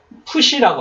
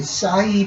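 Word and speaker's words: ψι: 시가 있었죠 예 예 요거는 푸시라고 합니다 푸시 그래서 예과 시 발음이 같이 있습니다 이렇게 영어에서 하는 싸이 발음이 아니고 시라고 스스 예를 들면 알프스 우리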